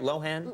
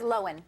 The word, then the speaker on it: Lohan: host Lindsay Lohan and am I saying it right Lohan I think she says loan well I say Lohan um and she's one